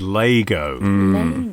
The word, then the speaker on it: Lego: right up top that the official pronunciation which i'm not expecting us to stick to but it needs to be said is lego it is lego even though no one